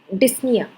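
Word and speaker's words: dyspnea: डिस्निया, इसमें P silent होता है, जब इसका प्रोनाउंसिएशन करते हैं तो पी साइलेंट होता है, इसको बोलते हैं डिस्निया।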